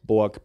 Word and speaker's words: Borg: Flula, how do you pronounce your last name? Borg.